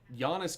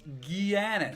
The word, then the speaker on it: Giannis: Because, It's just not that long ago that Giannis gets picked at, 12th or 13th? And people are just like, who's this kid? How do you say anti-Tom, you know? Giannis.